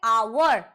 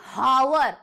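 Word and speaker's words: hour: Pronounce करते हैं ना जब हम इसका उच्चारण करते हैं तो वो होता है आवर ना कि हावर। ऐसे नहीं बोलते ना आवर। तो एच साइलेंट होता है।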